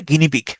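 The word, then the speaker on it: guinea pig: এটার উচ্চারণ হচছে গিনি পিক।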